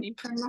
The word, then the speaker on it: Canady: I think I'm Canady. Yep.